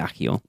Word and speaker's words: Accio: A-double-C is accept, not so it should be, for me, it should be Axio, but everyone pronounces it Accio.